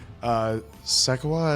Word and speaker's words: Shekhawat: We love the fact that we had our villain, Singh Shekhawat is how you say his last name.